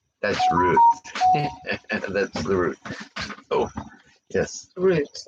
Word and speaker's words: Rut: Even though her name is spelled R-U-T, it's like root of the tree. So, Not the rut of the tree, yeah, not the rut.